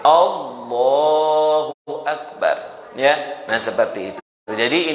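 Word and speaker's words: الله أكبر: A-nya panjang nggak boleh. Kalau A-nya panjang itu artinya apakah Allah Maha Besar. Ya, jadi salah besar itu, ya. Jadi kita bacanya pendek. Allahu Akbar, ya.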